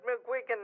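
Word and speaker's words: McGuigan: definitely our side the country and I said mcgan is that was that the correct pronunciation I'm m is yeah it's an order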